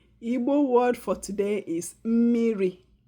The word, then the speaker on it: mmiri: Igbo word for today is mmiri.